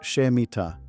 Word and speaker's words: Shemitah: This law is called the Shemitah, pronounced Shemitah, the release.